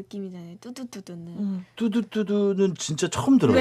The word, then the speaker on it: 뚜두뚜두: 뚜두뚜두. 그런데 네. 노래를 들어보면은 네. 발음을 뚜루뚜루루라고 하는 것 같은데 제목이 뚜두뚜두더라고요.